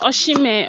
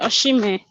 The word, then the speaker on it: Osimhen: Yeah, it is Victor Osimhen. Osimhen.